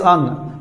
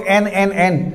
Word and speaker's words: an: अन, weak form में अन होता है, राइट प्रोनाउंसिएशन इज अन। हर जगह लोग एन, बट the actual pronunciation as ए weak form is अन।